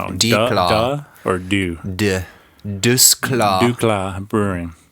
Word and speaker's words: DuClaw: I was going to say, I think the C is silent. So it's DuClaw. DuClaw, okay. Or the D is silent. I don't know if that's true. The D is DuClaw. Okay, I like that.